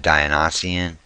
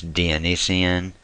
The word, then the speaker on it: Dionysian: Some people pronounce it Dionysian. It's Dionysian. I'm sure there's other pronunciations.